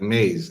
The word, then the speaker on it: Mayes: But again, his name is spelled Mayes, but it sounds like Maze, Maze.